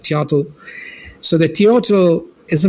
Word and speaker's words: Teotl: since we are closer to this context, the Nahuatl word for the divine spirit is Teo, like Teotl. Teotl. Teotl. Teotl, yes. Teotl. In Anglophone pronunciation, it's more like Teotl.